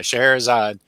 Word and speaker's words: Scheherazade: Yeah, Scheherazade.